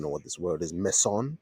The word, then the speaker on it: meson: Meson like a bzon. Is that how you pronounce it? Meson or meen.